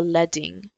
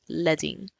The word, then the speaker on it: leading: this is called the leing it's spelled the way that you would spell leading with l e a d but in topography that word is pronounced leing so once again using